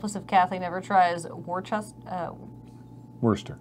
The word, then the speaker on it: Worcester: God help us if Kathy never tries Worcester. Worcester? Yeah, Mm-hmm. like the sauce.